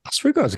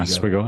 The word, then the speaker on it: Oswego: And also, like, I mean, Oswego's got some star power too, man.